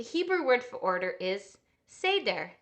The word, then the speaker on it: Seder: word for order is Seder can you say that say dare or said they're depending on how you pronounce that vowel and we have a